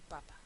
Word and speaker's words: papa: ser una palabra diferente por ejemplo papa y papá sí papa sé que tiene que ser una palabra llana porque termina en vocal y no tiene tiene tilde con lo cual sé que tiene que ser papa papá lleva tilde Entonces está ahí Qué es papa pop y papá pues es mi mi papi no calle y cal